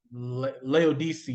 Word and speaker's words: Laodice: He goes against the Seleucid Empire, and then he kills the I can't pronounce her name, Laodice, I think is how you pronounce it, and he has her killed in revenge for his sister.